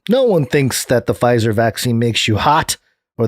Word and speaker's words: Pfizer: instagram there he said the silent p gave the word pfizer a luxurious feel reminiscent of the silent h in hermes yeah okay i asked